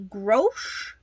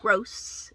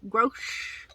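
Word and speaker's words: Grosche: Next up, this is a Grosh, not gross, Grosh.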